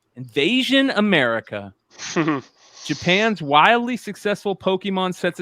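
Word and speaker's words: Pokémon: Combining elements of role-playing and virtual pet raising, Pokemon, pronounced Pokemon, proved to have potent kick indeed.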